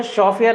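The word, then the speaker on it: chauffeur: दो है एक तो शॉफ और दूसरा ड्राइवर जो शॉफियर है ना इसको शोफा जो प्रोनाउंसिएशन है इसका वो है शोफा तो यह फ्रेंच वर्ड है वहां से लिया गया है और यह क्या है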